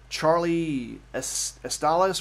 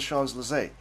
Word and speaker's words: Champs-Élysées: street, it was called Charlie Estales, whatever, I did the English American pronunciation. It was so hilarious when my friend said, that's the Champs-Élysées.